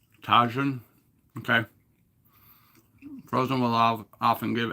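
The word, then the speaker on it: Tajín: J is pronounced as H. Oh, Tajin.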